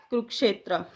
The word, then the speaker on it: कुरुक्षेत्र: इसको बोलते हैं कुरुक्षेत्र, कुरुक्षेत्र नहीं।